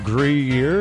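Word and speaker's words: Gruyère: Gruyere, is that how you say it?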